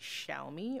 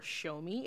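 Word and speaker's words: Xiaomi: that this word is maybe pronounced chow-me or show-me. It's X I A O M I, but they make devices that are quite literally copy cats of every Apple device.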